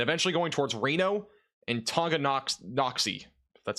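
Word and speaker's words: Tonganoxie: approaching Lawrence and eventually going towards Reno and Tonga KN noxy that's how you pronounce that that new radar scan will be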